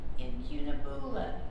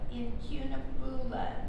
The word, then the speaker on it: incunabula: I looked on how to, it's spelled Incunabula. But in the dictionary, it has, the CU is pronounced with a CY.